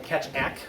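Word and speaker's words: Keccak: uh they picked the winner of catac which I'm told is the correct uh pronunciation and catak can go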